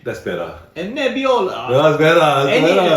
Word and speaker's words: Nebbiolo: You gotta say it right. 2022. Think Italian. Think Italian when you say it. How would an Italian person say it? Think Mario and Luigi. Sangiovese That's better. and Nebbiolo.